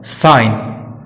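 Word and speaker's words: sign: अब बात जी की करें तो जब जी एन के पहले आता है तो साइलेंट रहता है, जैसे डिजाइन, फॉरेन, साइन।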